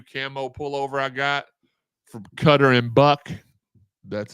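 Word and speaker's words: Cutter & Buck: the the new camo pullover I got from cutter and buck that's how you say it I promise it's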